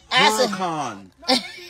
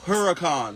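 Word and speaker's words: Huracán: They asked me, how do you pronounce it? Hurricane. It's a Lamborghini. Lamborghini Huracan.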